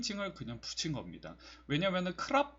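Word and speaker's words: ครับ: 디 스 크 그인 살 때 싸와 띠 크랍 이렇게 해야지 정석적인 이고 싸 월 디 캅 이라고도 하여 듣기도 하고 좀 빨리 발음하면 거든요 써리 합 소리 하 요렇게 발음을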